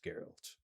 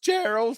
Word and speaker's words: Geralt: Yes, Geralt. Oh, that's pronounced Gerald. Thank you. Oh, a soft G.